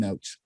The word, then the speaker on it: Ochs: My last name is spelled O-C-H-S, but it's pronounced Ochs.